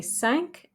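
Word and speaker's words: cinq: or quarter five treats we say sank like sank the boat and there's no u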